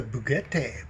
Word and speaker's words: Bugatti: Anyway, let's get to the oh, look at the Bugatti.